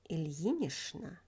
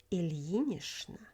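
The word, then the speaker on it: Ильинична: Ilya becomes Ilyich and Ilyinishna. Please note that in the combination ch-n, ch is pronounced as sh, Ilyinishna.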